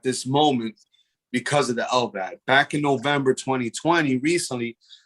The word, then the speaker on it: LVAD: How do you pronounce it? So the term, the abbreviation is LVAD, which stands for left ventricular assist device.